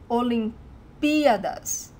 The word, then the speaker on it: Olimpíadas: hear wrong, is that the stressed syllable, the stronger syllable, is this P, Olimpíadas. Because if you put the emphasis in the A, Olimpíadas, it sounds wrong, it's wrong, it's really strange.